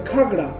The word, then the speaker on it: Ghagra: stone the word ghagra came from the word gagra which means water filled metal pot the gargling sound of water led to such naming of the falls during british rule indigo merchant frederick rice pronounced it as ghagra which continued thereafter actually the shape of the